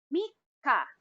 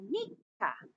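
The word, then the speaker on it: みっか: Now remember, Mika. You have to pronounce the double K, so Mika for third day of the month.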